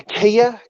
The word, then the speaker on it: Kea: Check out the Kakapo and the Kia.